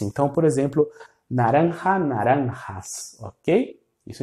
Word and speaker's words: naranja: Naranja. Naranja. No narã. Naran. Isso seria português. Naranja. E o J, esse som de um R aspirado.